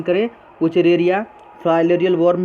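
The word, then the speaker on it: Wuchereria: जैसे एस्केरी जिसको round worm भी कहते हैं, वुचरेरिया, अच्छे से प्रोनाउंसिएशन करें, वुचरेरिया, फाइलेरियल वर्म भी कहते हैं, और एनसाइक्लोस्टोमा जिसको हुक वर्म भी कहते हैं।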